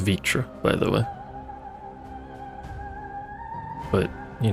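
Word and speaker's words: Vritra: that name is pronounced vitra by the way but you know whatever don't question it vr apparently makes a vi sound today we've learned review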